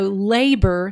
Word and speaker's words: labor: We have labor or labor. It's hard to say it that way. So we know labor sounds right.